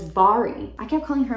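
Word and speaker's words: Mhairi: Then I finished Just Last Night by, apparently you pronounce this woman's name as Byyye. I kept calling her Mary.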